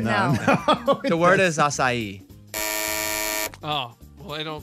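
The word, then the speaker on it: açaí: to say the word like you would say acai it doesn't sound the same to me right no the word is acai oh well they don't correct me at the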